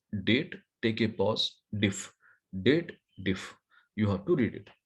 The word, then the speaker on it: DATEDIF: But here people always does the wrong pronunciation of formula. What they believe, there is a if logical condition is there. They read it as dated if.